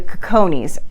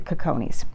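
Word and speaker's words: Cicones: I found most office which was the the cojones and so you might hear it pronounced another way someplace else but like I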